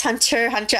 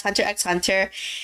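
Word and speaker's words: Hunter × Hunter: spy x family like um some people incorrectly pronounced hunter hunter as hunter x hunter it's um you guys probably think it's a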